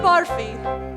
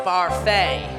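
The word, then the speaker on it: Barfée: Returning after last year's tragic setback, William Barfy. It's pronounced Barfay. There's an accent aigu.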